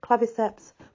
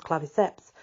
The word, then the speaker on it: Claviceps: it's caused by the claviceps it could be clavius it depends how you pronounce your C in Latin I know some people